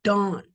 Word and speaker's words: Dan: It means it sounds the same, only it won't be pronounced Dan, it would be pronounced Dawn.